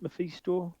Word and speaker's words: Mephisto: Is it Mephisto? Yes. Am I pronouncing that right?